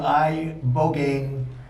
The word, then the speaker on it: ibogaine: In 2024 study from Stanford University, 30 special operation veterans with traumatic brain injuries underwent, it's called ibogaine treatment. Ibogaine. Remember the name. Is that pronounced relatively properly, what you said?